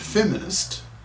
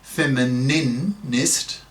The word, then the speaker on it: feminist: It occurred to me the obvious male equivalent of the word feminist, in brackets, note, not femininist, with its extra syllable, close brackets, would be